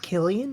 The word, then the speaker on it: Cillian: Murphy be all silly is it not Killian Murphy it is I'm okay I don't